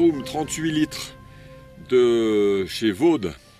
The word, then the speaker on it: Vaude: 38 litres de chez vaude ou fao des si on prononce à l'allemande donc voilà c'est un